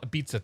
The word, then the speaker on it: Ibiza: We're gonna call it Ibiza tonight because that's what I want to say, because it sounds like pizza, and I'm okay with that.